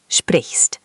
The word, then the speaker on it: sprichst: Sprichst. The ch is soft, like a hissy sound.